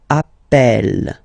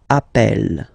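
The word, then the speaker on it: appelle: the pronunciation of uh you tend to pronounce it like e e really open that's the reason why you pronounce it Appel Appel okay Appel Appel Appel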